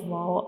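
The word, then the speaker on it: و: Now we move to the next letter, that is Vaw. Vaw. Vaw. Read after me. Vaw. Vaw. Say it again. Vaw. Vaw. Now try to recognize the structure of vaw. This is the shape of vaw, and vaw has no dot.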